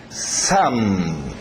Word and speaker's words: some: Some. Some. Parece filho, son, com N.